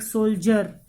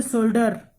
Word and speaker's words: soldier: Okay, soldier, you will say it soldier or soldier. You will use j or da. So students, here you will use j, like soldier. You will not say soldier.